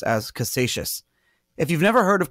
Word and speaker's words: Casascius: and he created the first physical Bitcoin correctly pronounced as Cassation if you've never heard of Cassation scorns before